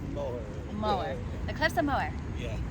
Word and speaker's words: Moher: how do you say Cliffs of Moher? The Cliffs Mower. Moher. All right. I always say mohair, and people make fun of Mower. it. Moher. You can drop the mohair, it's mower.